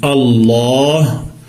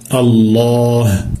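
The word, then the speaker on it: الله: lorsqu'on prononce on dit Allah en emphatisant le LaM en gonflant le L et en allongeant le a Allah avec un ha à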